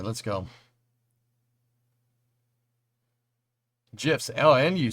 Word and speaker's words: GIF: Actually, the guy who invented the format says it's pronounced with a soft G.